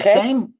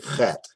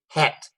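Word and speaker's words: חית: Now, it's the Chet? same CH sound as you'd make in the word Bach. So that's how we say Chet.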